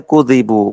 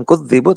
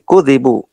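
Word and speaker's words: كُذِبُوا: Bacanya kudzibu, bukan kudzibu tapi kudzibu. Tanpa tasydid.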